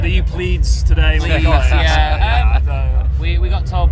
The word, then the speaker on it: Pleiades: We've got Pleiades, obviously being the correct one. Pleiades was another one. The stage manager said, "Are you Pleiades today?"